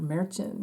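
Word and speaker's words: Merchan: caused uh judge judge meron or merchin to um or merchin is actually how you pronounce his name he's Colombian um but he let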